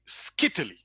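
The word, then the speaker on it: scytale: In English, you pronounce this word very similar to Italy. Okay, Italy. So you say skittily, this skittily.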